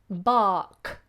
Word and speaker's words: bark: sound the R serene but if the following as a consonant like the word bark a dog will bark then we don't pronounce R at all bark bark but if you put